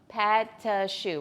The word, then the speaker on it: pâte à choux: No, pâte à choux. Robbie's gonna spell it for you.